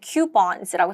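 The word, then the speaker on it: coupon: 자, 우리가 영 한국어로 쿠폰이라 그러는데 영어로는 큐ons라고 답합니다. 발음 자체가 희한하죠.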